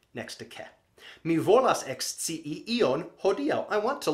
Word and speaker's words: ekscii: And I use that sentence simply because it has three letter I's next to each other. So make sure to pronounce clearly. You might find yourself with that. Mi volas ekscii ion.